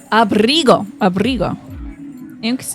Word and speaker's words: abrigo: Abrigo. Interesting. So it is a G. It's a hard G.